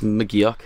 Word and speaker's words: McGeoch: fans asking about Dylan Magooch. That's why we have them. So do you say it Magooch? Is that how you say it? I don't know. No, it's McGeoch.